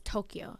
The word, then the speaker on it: Tokyo: Okay, so you know how like we say Tokyo, but the Japanese way to say is Tokyo. Like it's supposed to be two syllables.